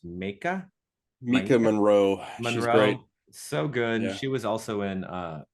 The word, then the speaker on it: Maika Monroe: And lead actress, I think it's pronounced Mika Maika Monroe, she's great.